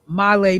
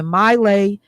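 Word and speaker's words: My Lai: "Well, you remember, Michelle, the whole, um, uh, Milelay massacre and that the man that was involved in that was here in Wisconsin."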